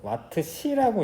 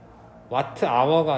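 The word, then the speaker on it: Wh: 이거 와트시라고 읽어. 와트시. 앞에는 뭐 영어인데 뒤에 H는 그냥 한국말로 시야. 그래서 와트 아워가 아니라 그냥 와트시라고 해.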